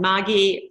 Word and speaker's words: Margie: And Margie, for Americans, it's spelled like Margie, but I pronounce it with a hard G.